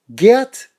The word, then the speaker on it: Geert: Okay, that's the only time I'm going to pronounce it, or try to pronounce it correctly, because in Los Angeles, when you spell your name G-E-E-R-T, we call you Gert. Okay, dude? It's fucking Gert, bro.